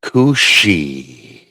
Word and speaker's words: Cú Síth: The cushi. Thank you. Welcome everybody. You you you pronounced it perfectly this time.